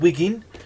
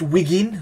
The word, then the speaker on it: Wigan: I am from the north of England, from a tiny sleepy town called Wigan. Not pronounced Wiggin, that's how we pronounce it, but I moved 7 years ago to Wales so I can commune with nature.